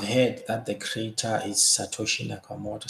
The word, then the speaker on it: Satoshi Nakamoto: No, I've heard that the creator is Satoshi Nakamoto. Sometimes they can't even pronounce it right. They say Nakamoto Toshi, something like that.